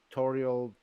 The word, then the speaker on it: Toriel: Now, if the pronunciation was good enough, you might have thought, oh, Toriel tutorial.